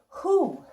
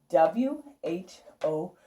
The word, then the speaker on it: who: Who. W-H-O. Who. Who has our WH, but it doesn't make a W sound.